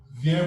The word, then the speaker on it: vient: vient. Which one? This vient with T. You won't read the T. You Yes, also sir. il vient. You don't pronounce the T.